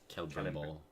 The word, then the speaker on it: Celebrimbor: The rings were forged by the elves, led by Celebrimbor. Celebrimbor, is that what you say? If it's CE, it's pronounced K. Celebrimbor.